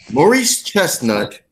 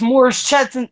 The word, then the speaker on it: Morris Chestnut: one question see Doug Morris Chestnut DL Hughley Bill Bellamy and Shamir more Spartan what romance movie ah Haven you pronounce that first name wrong it's more shuttin trust not and the answer is